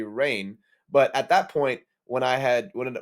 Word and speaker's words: Rahne: on command her her real name is actually rain sinclair spelt r-a-h-n-e now because wolverine's voice actor scott mcneil mispronounced her name as ronnie i at the time when i was like